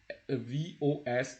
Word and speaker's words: vos: So, and it is no, and then VOS is also possessive. It is vo.